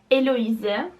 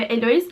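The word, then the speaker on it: Héloïse: Ronald duncan'ın abeler ve eloi buna çok fazla Elo diye sı var ama elois diye okunuyor bu mektuplardan oluşan bir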